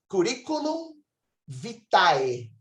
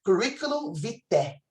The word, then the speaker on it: curriculum vitae: Se você pronunciar do modo erasmiano, é curriculum vitae, ok? Mas a pronúncia eclesiástica, esse AE é som de E. Então, ficaria curriculum vitae.